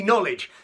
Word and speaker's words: knowledge: heard that was skinny knowledge yes knowledge but knowledge does have a silent k at the front skinny knowledge with their